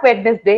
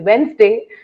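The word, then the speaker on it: Wednesday: बहुत देर तक पता नहीं था कि इट इज नॉट वेडनेसडे, इट इज वेंसडे।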